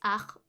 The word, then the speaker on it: art: Art is just art. It's written the same way, it's just pronounced differently. And we don't say the T.